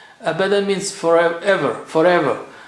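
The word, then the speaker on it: أبدا: Abadan. Abadan means forever, forever.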